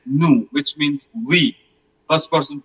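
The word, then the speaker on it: nous: New which means we.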